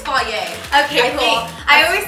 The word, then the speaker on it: Fage: I think it's Fage.